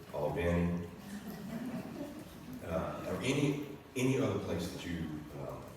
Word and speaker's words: Albany: That's Albany, Georgia, but they pronounce it Albany or any any other place that you have a recollection of?